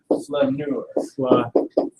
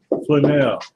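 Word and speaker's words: flâneur: Flaneur? How do you pronounce that in Francais? I spell it for you. You can spell it and then I'll pronounce it. Flaneur. Flaneur.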